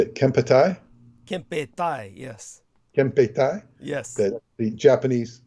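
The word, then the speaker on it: Kempeitai: Kempetai, yes.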